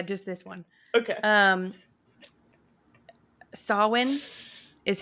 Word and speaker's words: Samhain: or just yeah just this one okay um sawin is how you pronounce sawin not Sam Hine that's crazy yeah in their